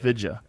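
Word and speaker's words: Vijaya: Vidya.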